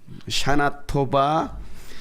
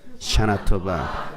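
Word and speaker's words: שנה טובה: 샤나토바 베티카테부 비테아테이라고 인사합니다. 한번 해볼까요? 시작. 베티카테부 비테아템. 다시 한번 시작. 샤나토바 베티카테부 비테아템.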